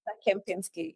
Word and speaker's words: Kempinski: Villa Rosa Kempinski. Is that how you pronounce it? I've been reading in my whole life and never said it out loud. Kempinski. Kempinski, yeah. Villa Rosa Kempinski, Nairobi, June 18th until the 20th.